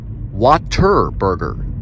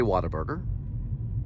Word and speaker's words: Whataburger: important to pronounce whataburger water burger as in water flowing water we pronounce it as turn right toward north main street then turn right onto north main street as waterburger some say whataburger but the south we